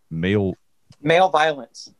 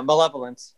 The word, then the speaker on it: malevolence: Male violence. Male violence. Okay. No, malevolence.